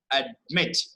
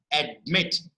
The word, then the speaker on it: admit: Admitted, admit, admit, admit, admit. Right? That is the way how you're supposed to understand. So the pronunciation is also very important aspect here. Admit. So we are stressing on second syllable.